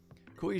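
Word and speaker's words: Cuy: focused on stablecoin payments kui Sheffield is that is that how you pronounce that kui it's not g it's a c koi Sheffield head of crypto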